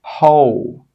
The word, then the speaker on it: whole: But sometimes when the letter H comes after a W, we do pronounce the H sound. Some common examples are whole, who, whose. In all of these words, we're pronouncing the H sound, but we're not pronouncing the W sound.